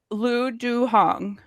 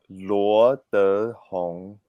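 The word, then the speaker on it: Luo Dehong: It's Luo De Hong. There go like the second, Yes, as we learned, so there are 4 tones, right? Yeah. So the second tone.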